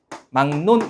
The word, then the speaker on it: 막론: 기역 뒤에 리을이 제가 뭐라고 했어요? 니은으로 먼저 발음이 되고 이렇게 발음이 되고 그다음에 이 니은 때문에 기역이 다시 뭐로 발음되는 거예요? 이응으로 발음이 되는 겁니다. 그래서 최종적으로 막론 이렇게 되는 거죠.